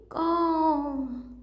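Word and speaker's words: comb: अगला है कॉम, कौन है, कोम, क्या बोलते हैं इसको, कोम, यानी बी की तो आवाज़ नहीं आई तो बी साइलेंट है।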